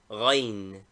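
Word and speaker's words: غين: Name, Ghain. Equivalent, GH. Pronunciation, a guttural sound, something like the French R, grasseye.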